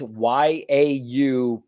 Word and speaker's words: yaupon: producing and kicks ass, and it is called Yapon holly. Now, I could be saying it wrong. It's Yaupon holly.